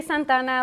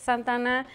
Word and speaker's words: Santa Ana: it's supposed to you know it's two words Santa Ana and I say Santana like a one word like the artist yeah and that's the way my family says it a lot of my